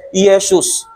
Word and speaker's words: Yesus: we mean by Jesus or Yeshus in Greek there's no such thing as letter J letter J um consonant in Greek. It is spelled as I e S o Yesus.